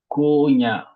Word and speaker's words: Konya: Mais les noms de liés, si c'est des noms de liés à deux syllabes, donc portent un accent sur la première syllabe.